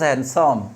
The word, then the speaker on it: handsome: very handsome not handsome de silent this is handsome okay this is handsome you look very handsome